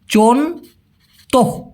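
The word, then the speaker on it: contoh: আচ্ছা উদাহরণের মালাই হচ্ছে চন্ত সি ও এন টি ও এইচ উচ্চারণটা হবে চন্ত চন্ত মানে হচ্ছে উদাহরণ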